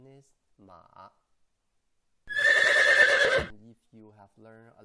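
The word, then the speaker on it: 馬: writing is like this it's called horse the pronunciation is ma if you have learned a little bit manding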